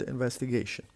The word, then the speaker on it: investigation: The word investigation has 5 different syllables, and the stress is on the fourth, the one before the last, because it ends with ION. Whenever we have ION, the stress is on the penultimate syllable, the one before the last.